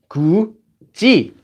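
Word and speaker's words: 굳이: This one has this letter followed by E, so it becomes 구지, 구지.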